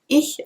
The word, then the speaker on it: ich: so for example the the sound in the word ich which is AI and it's not a sound that exists in English so you have to